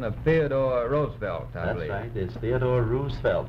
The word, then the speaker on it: Roosevelt: you used the uh republican pronunciation of theodore roosevelt is theodore roosevelt not roosevelt franklin pronounced the rose felt teddy pronounced it roosevelt governor i'm interested in your